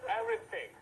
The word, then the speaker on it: everything: Everything.